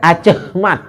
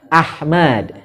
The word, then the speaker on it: Ahmad: Makanya ada kalau nama-nama orang lama itu kan pakai Ahmad, itu pakai ACH. ACH kan? Acehmat. Nah, itu kalau bacanya kan Acehmat. Itu maksudnya H kecil. Ahmad. Kalau dia pakai AC, itu langsung H berarti Ahmad.